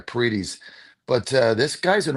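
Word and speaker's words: Paredes: I say his name Petes Petes right parites I think think there's a the long e e there parites but uh this guy's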